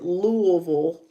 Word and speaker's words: Louisville: including Milwaukee, Indianapolis, Louisville, and yes, I said Louisville, because that's the way they actually pronounce it there, Washington, D.C., and Detroit, which is currently topping the luxury housing market ranking.